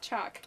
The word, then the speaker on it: chalk: you say chalk wrong you don't pronounce the l chalk no there's no l in chalk it's just chalk chalk chalk tastes like